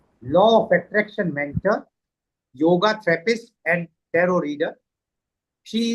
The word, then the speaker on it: yoga: So, what is exactly yoga? As uh we pronounce it yoga actually it is yoga.